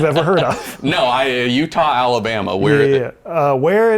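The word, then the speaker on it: Eutaw: Utah.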